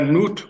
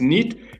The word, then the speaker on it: Nut: On a Nut, on va dire c'est le ciel, mais en fin de compte, ça se prononce Nit, qui signifie éclairage, lumière.